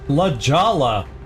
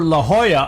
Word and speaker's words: La Jolla: of San Jose, and where is this La Jolla? You know, I keep looking for La Jolla on the map, H-O-Y-A, but no, all I see is La Jolla.